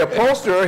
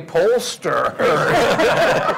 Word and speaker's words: upholsterer: Which you have to pronounce carefully because we take that as an upholsterer. I say upholsterer. He thinks I'm saying a pollster.